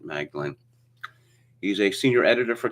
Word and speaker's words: Magdalen: They pronounce this Magdalen College at Cambridge. I assume the Americans pronounce it Magdalen.